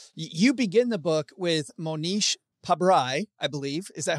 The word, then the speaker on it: Monish Pabrai: You begin the book with Monish Pabrai, I believe. Is that how you say beautifully it?